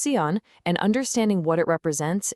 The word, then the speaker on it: Seon: It's pronounced seon and understanding what it represents is our first key.